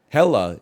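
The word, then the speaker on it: Hekla: it's a Darby Derby thing it's called It's pronounced hella even though it's spelled heckler I had no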